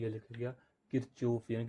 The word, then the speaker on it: Kirchhoff: ये हमारे पास को क्या होता है कि किरचॉफ लॉ क्या कहता है कि सम ऑफ इनपुट्स,